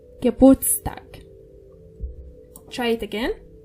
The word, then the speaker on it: Geburtstag: However, in the word birthday, it's used and pronounced. Geburtstag. Try it again. Geburtstag.